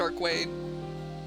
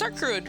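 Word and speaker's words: Arcueid: It can't be pronounced Arcwade. It's Arcruid, right?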